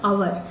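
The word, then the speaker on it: hour: आप सभी को पता है 60 मिनट बराबर 1 आवर। आप यहाँ पे देख पा रहे हैं मैं एच को प्रोनाउंस नहीं कर रही हूँ क्योंकि ये साइलेंट होता है, तो आप आवर पढ़िएगा।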